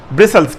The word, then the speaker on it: bristles: और ये जो दंदाने हैं इन्हें ब्रिसल्स कहते हैं, BRISTLES। ब्रिसल्स, टी इसमें साकिन है।